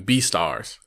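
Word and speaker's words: Beastars: night I started watching be stars be stars well just be stars the way it's pronounced is pronounced be star but it is basically a mashup of the word beast and stars but um it takes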